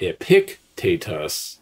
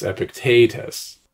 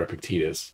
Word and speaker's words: Epictetus: The accent is not on the antepenult. So the antepenult is the third to last syllable of a word. The penult is the second to last, and the last syllable is the ultima. So it's not Epictetus, it's Epictetus or Epictetus.